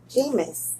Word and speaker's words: Jameis: Jameis. Okay, you did good. You rounded it up really nice. No. Okay. You mispronounced it twice in a row.